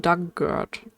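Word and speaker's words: Dugort: Pronunciation Doug like the past tense of dig or tries referred. Oh dert dug dugert giant rhubarb.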